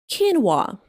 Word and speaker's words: quinoa: It is pronounced like quinoa. Can you imagine quinoa?